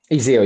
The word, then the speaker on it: Iseo: And that's taking place in Lake Iseo, is that correct? Iseo, yes. Iseo. It's an Italian pronunciation.